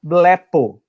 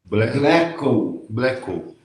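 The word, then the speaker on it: βλέπω: E a palavra é blepo. Pronuncia aí. Bleco. Não é co, é po. Blepo.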